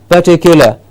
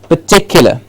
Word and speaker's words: particular: particular okay particular particular what we generally hear it as is particular because we get an clear our sound at the beginning which is incorrect so it is just particular particular then we have